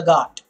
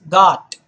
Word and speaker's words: ghat: Guys, this word here is ghat. Okay? Do not pronounce it as ghat. In English, there is no gh sound. When you are doing it in English, always remember it's the g sound.